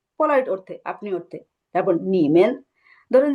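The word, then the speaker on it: 你们: আচ্ছা, এইটাই জানতে চাচ্ছি, কারণ হ্যাঁ যে আমরা একটু আগে তো একটা করে হ্যাঁ, লেটার প্রোনাউন্সিয়েশন উচ্চারণটা হবে নিম্যান। নিমেন।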